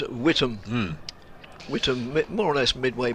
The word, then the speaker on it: Witham: It's always pronounced down our way, down south, as Witham.